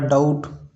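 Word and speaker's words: doubt: उसी प्रकार डाउट डाउट में भी बी साइलेंट रहता है।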